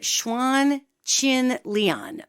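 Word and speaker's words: Chuan Xin Lian: And it's something called, I pronounce it Xuan Chin Lian, but it's spelt, let me spell it for you, Chuan is one word, and then Xin is the second word, and the third word is Lian.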